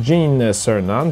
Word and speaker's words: Gene Cernan: Eugene Cernan, dit Gene Cernan, prononcé en anglais, était le pilote du module lunaire.